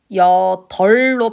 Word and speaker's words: 여덟: 리을 비읍 예시 여덜로 발음을 하기로 했죠. 여이 아니라 여덟.